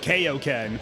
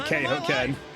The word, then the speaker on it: Kaioken: I hate that pronunciation. That's how they used to pronounce it. Like, for a long time, they just called it Kaioken. Even though things look And so even I have the habit of calling it Kaioken.